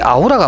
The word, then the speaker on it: aura: 어로, 그죠? 그러니까 이게 우리가 그냥 아우라 이렇게 발음을 하는 것은 독일식 내지는 말 그대로 이 자체를 발음교로 봐서 하는데, 원래 정확한 발음은 어로라고 그러더라고요. 어로.